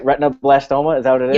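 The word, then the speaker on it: retinoblastoma: familiar to me did I say it right retino blastoma is that what it is yep retino blastoma very good it took me it took me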